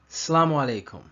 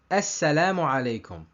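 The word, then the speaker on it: السلام عليكم: In the right way of pronunciation, the sin has a shadda. In the wrong way of pronunciation, the shadda of the sin is replaced with the sukoon. And sometimes people omit the sound of the alif and pronounce the greeting by Assalamu alaikum. The right way is Assalamu alaikum. Wrong way, Assalamu alaikum or Assalamu alaikum.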